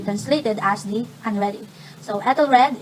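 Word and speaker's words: Æthelred: So Ethelred in Old English, Ethelred pronounced Aelred.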